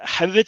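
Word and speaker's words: Höwedes: Benedict, is it Howard it's pronounced? With a slight D sound in there.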